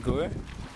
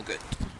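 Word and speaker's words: Göth: So Amon Gur? Amon Gut. Welcome to Amon Gut. How do you say his last name? Gut.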